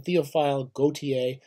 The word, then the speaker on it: Théophile Gautier: this Gautier we're going to do him I'm pronouncing it again théophile Gautier I love his stuff he did all sorts